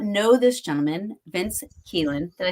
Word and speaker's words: Kelien: For anybody that does not know this gentleman, Vince Kelien, did I say that right?